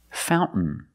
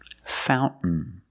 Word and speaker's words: fountain: what did we celebrate fountain fountain you can say fountain or fountain both are fine and then I swim